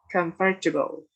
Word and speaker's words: comfortable: The word stress is on the first syllables, comfortable.